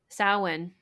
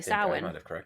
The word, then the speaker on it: Samhain: And most people Samhain they would think cuz that's how it's spelled, Samhain.